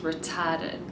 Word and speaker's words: retarded: And the adjective is pronounced retarded, so again the stress changes. Retard, retarded.